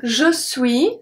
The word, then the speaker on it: suis: So for je suis, the S at suis is not pronounced.